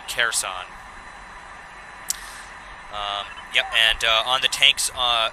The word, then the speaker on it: Kherson: Kherson is the pronunciation. Thank you for that, Erica C. Kherson.